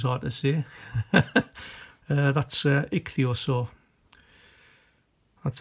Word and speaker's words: ichthyosaur: done thesaurus was hard to see that's uh ichthyosaur that's how it's pronounced saw the the obverse if you want